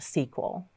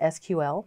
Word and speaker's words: SQL: of this got started it actually was called sequel so over some time there was Evelyn and some legalities and the name change to simply just SQL so the technical pronunciation is SQL that's actually what you'll